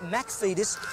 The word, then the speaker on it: McFetus: My name is McFetus with the Scottish pronunciation Mac, because that's my background.